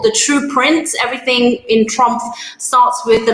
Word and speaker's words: Trumpf: i'm working now at trump i am industry manager for aerospace and medical uh if you don't know trump uh make sure you please pronounce the f at the end of the name but it is a